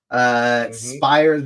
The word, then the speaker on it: Spires: Spires rhymes with pliers, so he's helping us out. It is pronounced Spires.